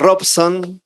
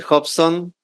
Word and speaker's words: Robson: Normalmente decimos Robson, pero he aprendido que se dice Hobson.